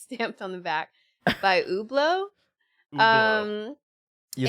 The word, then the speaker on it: Hublot: the back it's stamped on the back by Hublot um you said it right too to me